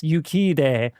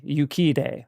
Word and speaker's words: Urquidez: It's Yukide, but that's spelled Urquidez. Yukide, apparently.